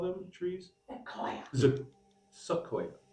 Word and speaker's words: sequoia: Sequoia. Sequoia. I almost said zoquoia, but sequoia.